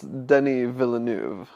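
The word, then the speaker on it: Denis Villeneuve: is wrong but uh I believe it's Denny villanu ah yes because it's French and it's spelled Dennis villanua right but they don't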